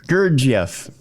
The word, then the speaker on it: Gurdjieff: Is it George Ivanovich Gurdjieff? Well, we can just talk about Gurdjieff. Gurdjieff. That's good. Yeah. My American pronunciation again.